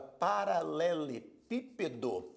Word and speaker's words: paralelepípedo: Da mesma forma, quando nós escrevemos a palavra paralelepípedo, a palavra paralelepípedo é uma palavra proparoxítona. Por que proparoxítona? A sílaba tônica é a antepenúltima.